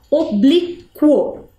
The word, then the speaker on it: oblíquo: lá a palavra é oblíquo Vamos ler o oblo eu escutei a vogal u ali no final no meinho entre a letra q e a letra o sim né então portanto eu